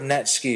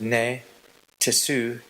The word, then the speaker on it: netsuke: The word Netsuke is composed of two characters, the NE meaning root and TSUKE to attach. A Netsuke is actually pronounced ne tsuke, or Netsuke, which is a common but improper pronunciation.